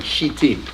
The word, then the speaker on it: Shittim: You better say it properly, Shittim. Shittim. Yeah, otherwise you're putting a Hebrew plural on a word we don't want to have plural on.